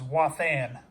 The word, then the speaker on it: Wathan: That is the error spelling it Watham, but the corrected version is Wathan. I'm phonetically saying it.